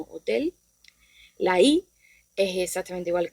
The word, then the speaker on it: hotel: La H, H, como hemos dicho, es muda, no se pronuncia, y la encontramos en palabras como hotel.